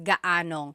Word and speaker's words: gaanong: And then just a pronunciation tip, if you happen to see gaano ang something, it's usually put together and it's gaanong.